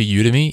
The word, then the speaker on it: Udemy: ever heard of like udemy which is spelled UD e my com this is similar to you to me it's a video course